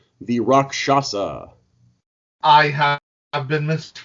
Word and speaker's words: Rakshasa: most people have been most people ignore the fact that there's an sh in the middle of the word but before we get